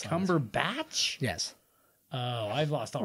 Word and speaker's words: Cumberbatch: and me which one do you think is pronouncing it correctly I think this time it's me no it's never been cumberbach it's Cumberbatch yes oh I've lost all respect for this